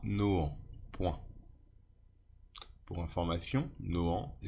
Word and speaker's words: Nohant: Que j'avais subie à Nohant.